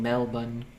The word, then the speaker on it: Melbourne: give me my shark melbourne is the extremely australian way technically i think it should pronounce melbourne melbourne we need a recording of taz saying mel bun i'll probably do it